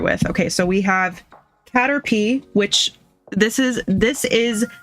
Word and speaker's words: Caterpie: So, we have Caterpie, which this is this is the official sticker book of the Kanto region. It is officially pronounced Hatterpee. So, if you're ever wondering, now you know.